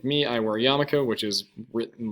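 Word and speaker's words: yarmulke: your cultural group so like me I wear yamaka which is written like this even though it's not pronounced Yul it is yamaka um it's just kind of the Hebrew translation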